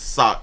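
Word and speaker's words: Sauk: suck Village sock Village I think it's sock s a UK K how you pronounce s a UK K is that a sock sack sock so Sal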